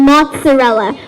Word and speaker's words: mozzarella: sound we need to when we see two Z's together a lot of us might think the pronunciation is just the but in fact in a lot of different sounds it's uh it's so we have examples like pizza inter mezzo and mozzarella what do you notice when you pronounce these words you have this it's sound that's your clue to know